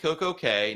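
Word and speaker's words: CocoCay: call royal caribbean the recorded message very clearly pronounces it coco k not key because drake just because it's pronounced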